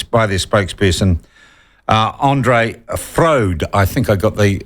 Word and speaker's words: Froude: Andre fro hi Sean yes Andre frude food thank you very much come from that's English English okay yeah Andre thank